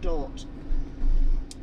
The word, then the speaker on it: Dordrecht: It's spelt Dordrecht, but apparently it's pronounced Dort.